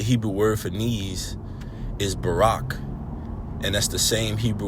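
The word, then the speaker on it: ברך: Baraka equals ni. And you have the Hebrew characters ba, ra and ka together make barak pronounced barak or ni which is also bless as well.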